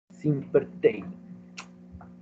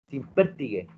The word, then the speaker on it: Simpertigue: Simpertey. ¿Está bien? ¿Lo dije bien o no? Simpertigue. Nuevamente, por favor. Simpertigue. Con acento en la E. Simpertigue.